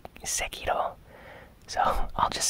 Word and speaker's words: Sekiro: Honestly, I hear people pronouncing it Sekiro and Sekiro. I think in Japanese, the correct pronunciation is Sekiro.